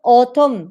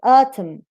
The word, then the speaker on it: autumn: there so you have autumn autumn it's not autumn it's atom support support yes halibut halibut